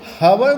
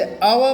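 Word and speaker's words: hour: इसमें एच को नहीं पढ़ते हैं। हम लोग हवर नहीं पढ़ते हैं। इसे अव पढ़ते हैं। ओ का उच्चारण आता है। एच का नहीं आता है।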